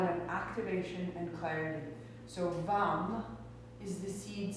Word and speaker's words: vam: Tuck your chin hard up, lift the pelvic floor, and in the pelvis, in that pulse, the sound vam, the syllable vam, V-A-M.